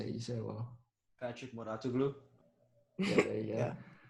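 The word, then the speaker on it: Mouratoglou: Patrick Moratoglu.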